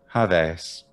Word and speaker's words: Hades: all see him eventually i might say hades but someone in fifth century bce greece might say javez how this happens so